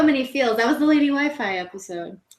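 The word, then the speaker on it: Lady Wifi: That was the Lady Wi-Fi episode. Lady Wiffy. Lady Wi-Fi? Yeah, I love how they say it in French. Lady Wiffy.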